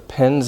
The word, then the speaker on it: pens: some notebooks and pens so pens is another one the in mmm voiced hmm so the s becomes voiced also pens pens because it's different from pence who that's the last